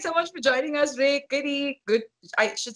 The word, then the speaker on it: Reick: His name is Rake, and it's spelled Reick.